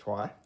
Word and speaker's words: Troyes: in the top 100 uh board games called trois it's pronounced tua and this is tua dice which um has a similar i guess